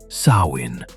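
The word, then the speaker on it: Samhain: The earliest origins of Halloween can be traced to the Celtic festival of Sawin, pronounced Sawin, celebrated in Ireland, Scotland, and parts of Northern Europe.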